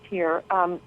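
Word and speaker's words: hir: Well, so Here, H-I-R, pronounced Here, is actually...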